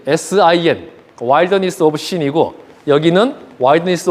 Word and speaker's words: Sin: 광야도 신 광야라 나오는데 영어는 틀려요 여기는 신 sin 와일더니스 오브 신이고 여기는 와일드니스 오브 진 그 영어 알파벳 중 제일 발음하기 어려운 거 마지막 알파벳 발음 좀 해